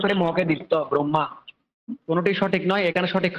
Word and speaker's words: ব্রহ্মা: ম হয় ম হলেও আমরা উচ্চারণ করার সময় হটা পরে করব।